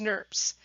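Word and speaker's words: snRNP: little molecular scissors cause nerves and I'm not making this up that's actually pronounced nerves and in my mind to be honest I think of Smurfs those little purple or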